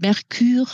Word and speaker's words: Mercure: Merkur ist mein fahrender Reisebegleiter, den ich nach Merkur, dem griechischen Gott der Reisenden, benannt habe und dem ich aussprachemäßig einen französischen Anstrich verpasst habe. Mit Mercure also nehme ich die erste Ausfahrt von Mulhouse und lande voll im Lande Peugeot.